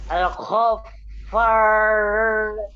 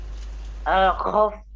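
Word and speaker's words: الغفار: Baca yang benar itu, tanda bacanya itu apa itu? Di atas apa di bawah? Al-Ghaffar.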